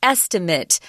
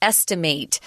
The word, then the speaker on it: estimate: you didn't pick up on the difference in pronunciation be careful the noun is estimate kind of that I I sound at the end but the verb is the a down long a estimate so be careful with that use the correct